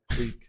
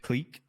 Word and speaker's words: clique: hate it people it's probably huh Can you pronounced click click click that's how you pronounce it how you pronounce